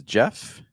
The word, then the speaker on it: Jeff: you my name is Jeff rhymes with breath which is Wonder four